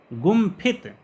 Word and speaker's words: गुम्फित: अंकित गुम्फित यहाँ पर अनुस्वार का उच्चारण आधा माँ किया जा रहा है, अंकित में अनुस्वार का उच्चारण आधा इंग्या किया जा रहा है।